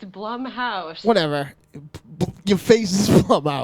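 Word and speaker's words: Blumhouse: a lot of the bloomhouse stuff but what I'm saying is like I've seen Bloom house why can't you say it right it's Blum House whatever you face is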